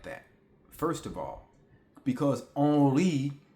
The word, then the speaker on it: Henri: first of all, because Henri is how you pronounce my name if you are in France. My name, the H is silent. So it's almost like if you're just spelling on and then re, O-N-R-E. It's literally like it sounds different than what it spells.